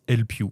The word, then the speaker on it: Elpyoo: Et mais ouais, ça se prononce Elpu. El Piw.